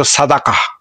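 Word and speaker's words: صدقة: এটাকে বলত তারা তেজে ডাকা বলতো বা এটার আরেকটা উচ্চারণ আরবরা এটার উচ্চারণ করত সাদাকাহ কিন্তু ইহুদরা উচ্চারণ করত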